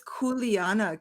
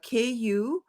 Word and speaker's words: kuleana: word again what is the word again it's kuleana k-u-l-e-a-n-a kuleana yeah corey can i adopt the